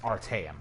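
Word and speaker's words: Artaeum: order were called back to the Isle of our team so that's how you pronounce our time all right 75 I could have stopped at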